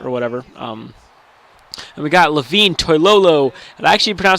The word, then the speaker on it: Levine Toilolo: And we got Levine Toilolo, and I actually pronounced his name right for the people that